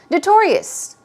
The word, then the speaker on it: notorious: notorious here we go stress goes right there on the second syllable notorious popular as I mentioned prominent